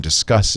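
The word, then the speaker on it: Disqus: there's two good ones d-i-s-q-u-s dot com i used for a long time discuss is how uh that's pronounced now i have to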